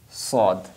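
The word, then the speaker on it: ص: will be sod but the difference between seen and saw this this this will be bold and this will be light scene and this will be bald Sode Sode Sode so while pronunciation them we will not we will not bring our mouth in in circle like sod some people say saw that will be wrong just we will bring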